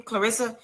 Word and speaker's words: Claressa: Clarissa.